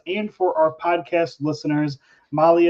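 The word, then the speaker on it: MAHLE: And for our podcast listeners, Molly is spelled M-A-H-L-E.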